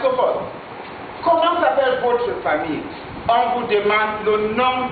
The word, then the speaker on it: famille: En anglais, on dit family, mais en français, on dit famille. Les trois lettres ici, 1, 2, 3, les mêmes quatre, ne se prononcent pas. Famille, c'est la vraie prononciation, pas family.